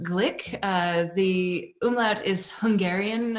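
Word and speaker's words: Glück: um uh actually it's her last name is pronounced Glick uh the umlout is Hungarian in origin and so it's Le Glick not Gluk um although hardly anybody know and it happens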